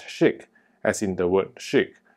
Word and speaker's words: ChiQ: stands for intelligence and it's pronounced as chic as in the world